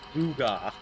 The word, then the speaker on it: gewgaw: Okay, it's Googa. Googa. Spelled like that.